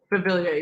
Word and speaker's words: Beauvillier: Beauvillier? Beauvillier, yeah.